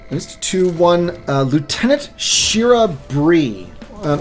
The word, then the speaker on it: Brie: one uh Lieutenant Shira Brie um it's spelled BR EI it's Bri or Bray and I've never been able to settle on which is accurate I settle for Bri and it's um pretty